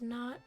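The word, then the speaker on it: know: Like in no they don't the K doesn't do anything.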